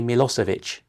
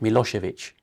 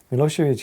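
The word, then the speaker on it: Milošević: The Butcher of Balan it's remarkable that you are able to pronounce his name correctly none of our political and journalist class have ever bothered even when putting him on trial in the hag to pronounce his name they all say mosovich and at one point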